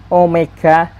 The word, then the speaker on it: Omega: nah ini dibacanya adalah Omega er simbol seperti ini kadang mungkin bapak ibu guru ada yang bacanya w Hai Nah di sini Bacanya adalah Omega jadi simbol ini dibaca namanya adalah Omega Omega Omega kecil nanti